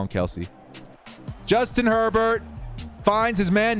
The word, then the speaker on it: Kelce: Kels. It's Kels.